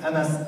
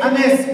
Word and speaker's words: Anas: N parce que moi mon vrai prénom c'est Anas a a de S mais comme j'ai travaillé au club avant les gens ils avaient des problèmes à prononcer mon prénom alors il disait he anes moi je disais he